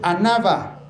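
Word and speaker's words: ἀνάβα: sube la palabra sube es una palabra griega que es anava así como se escucha anava con acento en la última sugiere o denota una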